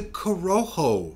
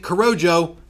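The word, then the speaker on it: Corojo: relief and that is the coroho seed. By the way, if you've been pronouncing it corrojo, here's your sign.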